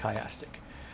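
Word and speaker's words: chiastic: a s t i c, that's how you spell it. Kyastic.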